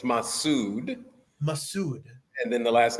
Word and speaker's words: Masud: no I appreciate that you were close it's massud massud and then the last name is